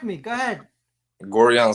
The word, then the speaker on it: Gorjan: we're going to bring him on right now Georgia and soleski go go what's up go go